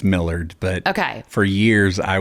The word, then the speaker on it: Millard: How do you pronounce Millard? Technically, it's Millard, but okay.